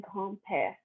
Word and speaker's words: grand-père: For a grandmother, you say grand-mère, and for grandfather, you say grand-père.